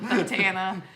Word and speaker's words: bandana: Yeah, Badana Grandma. Oh, Bandana. You put the wrong emphasis Yeah. on the wrong syllable.